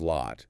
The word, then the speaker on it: lot: Once again, we encounter the stopped T. The T sound at the end of lot in the phrase, it's a lot, is typically not fully released. It's este. The tongue goes up to the T position, but the airflow is stopped, halted, before the sound is fully articulated.